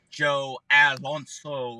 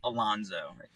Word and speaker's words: Alonzo: Like and then they'll try to like roll by the Z, and it comes out like an S, and it's like Joe Alonso, and I'm like, bro, that's not how you say my name. Don't ever roll. No, it's Alonzo.